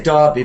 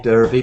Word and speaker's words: Derby: win the Derby yes I say Derby but you can say Derby but yeah that's Derby's more American now um yeah so